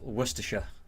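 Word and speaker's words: Worcestershire: But yeah, worersha that's how you say it.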